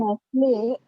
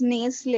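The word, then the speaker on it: Nestlé: लोग in कुछ the change word कर ही Nestle, N-E, it is coming A only. So will we have to put a macron over E, like after N-E, the acute accent E? Because it's Nestle and it's coming like A-E only again, the sound.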